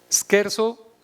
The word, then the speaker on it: scherzo: es la parte bonita scherzo en realidad la pronunciación italiana de un verbo alemán que es ser sen